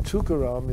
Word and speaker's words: Tukaram: And the thing about the name Tukaram is, if you break it up, which nobody does, but it's 3 syllables. Tu-ka-ram.